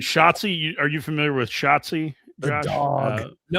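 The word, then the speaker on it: Schottzie: you think about it, Shotsi rhymes with Nazi under under hits today.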